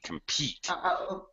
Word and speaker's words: compete: We have unstressed syllable, calm, and stressed complete. Okay, but there's no L. This is actually compete.